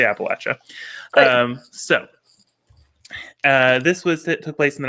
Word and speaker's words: Appalachia: Do you say Appalachia or Appalachia? How do you say it? Okay, well, I'm Canadian, and it's one of those things where we always grew up saying Appalachia, like the Appalachian Mountains, but I understand that that's now not correct.